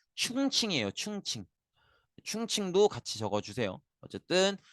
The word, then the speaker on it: 충칭: 중경의 정착을 하게 돼요 요거 중경도 맞고 이게 중국어로 발음하면 충칭이에요 충칭 충칭도 같이 적어주세요